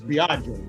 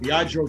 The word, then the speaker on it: Biagio: It's not Bill, it's Bajjo. Bajio. Just so you don't think you're pronouncing an appetizer on an Italian menu.